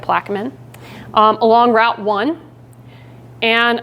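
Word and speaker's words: Plaquemine: it's right south of plaman that's how they say it plaman um along Route One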